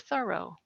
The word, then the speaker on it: Thoreau: surname with the accent on the first syllable like thorough like you're doing a thorough job and that's the way